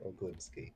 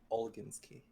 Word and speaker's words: Olgimsky: Oh, is it Olgimsky or Oglimsky? Olginsky. Even though I keep mispronouncing it myself.